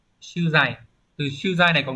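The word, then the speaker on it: 取材: Hán tự là chữ thủ và chữ tài, đúng không? Đọc là sư dày.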